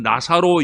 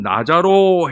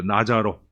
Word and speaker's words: 나사로: 하는 근데 사실은 우리는 나사로 이러는데요 발음이 거의 지읍 발음이에요 그래서 사실은 나자로 해야 맞아요 천주교인들은 이렇게 불러요 나자로 여러분 아마 천주교에서 이렇게